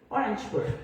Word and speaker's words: Orangeburg: del Nathan clin institute en Ay cómo lo pronuncias orangeburg a Orange orangeburg New York y la otra en el New